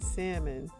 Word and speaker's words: salmon: One, there's a few atrocities here, but the biggest one is that he pronounced the L in salmon.